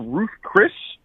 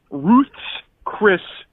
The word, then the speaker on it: Ruth's Chris: I believe you said it was Ruth Chris, but it's actually Ruth's Chris Steakhouse. It's the possessive, as if it's Ruth's Chris, not James Chris. It's Ruth's Chris Steakhouse.